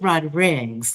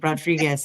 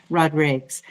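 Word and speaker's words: Rodrigues: It's Rodrigs because I'm used to saying Rodriguez as well, but he is Portuguese and he he always corrects and say it's Rodrigs.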